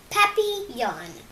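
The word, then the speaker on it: papillon: like our neighbor's dog you say it like this papy Yan in French it means butterfly I I help Mel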